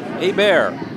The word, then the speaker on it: Hebert: Thanks to Shaheen Basiri's mother, I am told that it is pronounced as a bear.